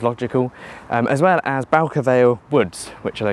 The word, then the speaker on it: Bowker Vale: Hello, welcome to Bowker Vale, not Bowker Vale. The announcements pronounced it Bowker, so that's how I'm going to pronounce it.